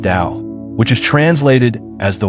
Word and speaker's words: Tao: This concept is known as the tao pronounced dao which is translated as the way or the path.